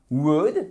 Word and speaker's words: would: vraiment simple vous prenez votre auxiliaire wood et vous ne prononcez pas le l et vous rajoutez derrière